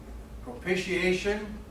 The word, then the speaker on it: propitiation: I I understand that the ti a that's kind of an SH sound I hear people pronounce it differently i'm not saying i'm right that's just what i understand it propitiation and atonement they're pretty